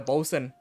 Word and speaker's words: boatswain: You have the boatswain, the bosun, I believe that's how it's pronounced, who is in charge of repairs and the general maintaining of a ship.